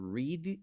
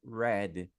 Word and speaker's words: read: som, e às vezes a mesma palavra tem duas pronúncias diferentes, que é o caso da palavra read. Essa palavra aqui, ó, read, você pode ler ela tanto como read e tanto como read. Daí vai depender do contexto.